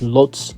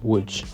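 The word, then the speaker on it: Łódź: Now, I know you're probably looking at the spelling thinking that's pronounced lots, not wood, but the correct pronunciation is wood.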